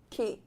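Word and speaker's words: quay: key.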